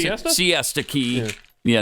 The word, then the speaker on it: Siesta Key: Hurricane Milton made landfall last week, of course, in was it Shasta Key, Florida? Is that how you pronounce Siesta? it? Siesta Key.